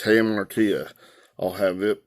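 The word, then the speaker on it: hamartia: tongue tied saying and i said i think i said something like heart of mia or something like that but it's him ortiz i'll have it pronounced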